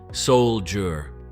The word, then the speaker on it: soldier: It's pronounced soldier. Notice the first part sounds like soul, and the second part sounds like jur, almost like the G in jungle.